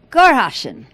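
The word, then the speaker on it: Sankt Goarshausen: You want to pronounce that? Sure. Gorhausen.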